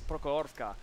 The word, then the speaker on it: Prokhorovka: It's Prokhorovka. And to me, it kind of sounds the same, but how you pronounce it is important.